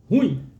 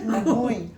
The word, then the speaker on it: ruim: As pessoas elas têm o hábito de falarem ruim, é isso, né? Ruim. Ruim. E é uma pronúncia equivocada porque a palavra vem da palavra ruína, então o correto é ruim.